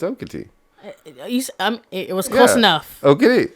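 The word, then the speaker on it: Okatie: I think it's Okati, but Okity? What? No, it's Okity.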